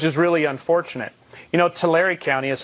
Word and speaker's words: Tulare: we took which is really unfortunate you know Tulare County is how it's pronounced actually but Jerry County we are at